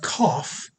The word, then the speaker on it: cough: Cough is spelled C-O-U-G-H. Off kind of sound there, right?